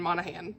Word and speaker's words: Monaghan: And I just looked up how to say her name, these interviews on YouTube, and the audiobook was saying Monaghan. So I was saying Monaghan, but neither here nor there.